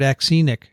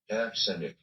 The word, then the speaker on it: axenic: He doesn't even have the accent on the right place. Let's try a female. Axenic. What? Axenic. She doesn't even pronounce the beginning. That's no good. Axenic. That's a British male. Axenic. It's A-X. Axenic. I like axenic. Okay. But Daniel likes Azenic. I'm going with azenic from, the use in the botanical literature.